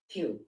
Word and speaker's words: Pugh: Pugh, is that how you say it, Pugh? Let's see. Pugh.